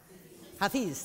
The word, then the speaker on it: Hafiz: Hafiz, thank you.